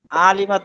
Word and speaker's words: علمت: ما নুরুল ইসলাম ভাই, এই যে আইনটাকে গলার মধ্যে নিয়ে উচ্চারণ করতে চেষ্টা করার কারণে একটু টান তৈরি হয়ে যাচ্ছে। এটুকু হবে না, প্রয়োজনে স্বাভাবিক পড়েন, আইন ভালোভাবে উচ্চারণ না হলেও টান দেওয়া যাবে না।